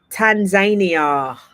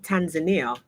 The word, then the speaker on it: Tanzania: Tanzania. Okay, I found out that I've been pronouncing. I used to pronounce it Tanzania, but it's not.